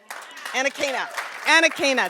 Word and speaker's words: Anakana: Anakana, thank you.